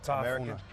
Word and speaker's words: Tafuna: Make sure I pronounce this correctly. So you're from Tafuna? Yeah, Tafuna.